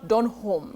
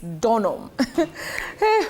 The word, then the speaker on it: Donholm: not eily it's eastly and not Don it's not Don home it's donam Willis he's of course